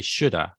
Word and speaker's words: should have: speaking slowly here and we say you should have but in fast speech would say either should have or some people would say shoulda well you should have